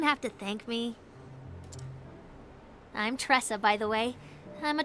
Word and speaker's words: Tresa: She says that, but I think I I mispronounce her name like every episode. I'm like, Tesa, Tresa, Ta.